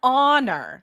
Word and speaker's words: honor: Honor starts with an H. H is not a vowel, right? So you would see if people are writing it and not pronouncing it out loud in their heads, they might write a honor, which is wrong.